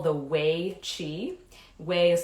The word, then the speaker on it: Wei: Large intestine 4 also regulates what we call the Wei Qi. Wei is spelled W-E-I.